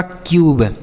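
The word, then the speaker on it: cube: अब बी से पढ़ेंगे ब और लास्ट में इ रहता है बच्चों। तो उसे हम नहीं पढ़ते हैं। यह हो गया आपका क्यूब। क्या हो गया? क्यूब हो गया। समझ में आया ना? क्यों ऐसा पढ़ रहे हैं? क्योंकि अगर यू के बाद लास्ट में इ लिखा रहेगा तो हम यू का उच्चारण यू के रूप में ही करते हैं।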